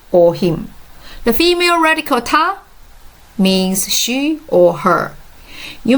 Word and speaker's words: 她: The female radical Ta means she or her.